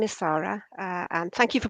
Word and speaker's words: Sara: about the National Archives okay my name is Sara uh and thank you for pronouncing it properly it's often mispronounced um I